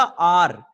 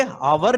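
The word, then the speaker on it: hour: अब ये देखिए हमने बताया था आर, ये हावर नहीं बोलेंगे इसको, तो ये किससे चालू हो रहा है, एच से चालू हो रहा है, पर एच साइलेंट है, और जब एच के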